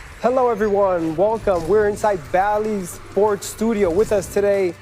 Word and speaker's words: Bally: I mean, people would pronounce them ballet, but it was Bally.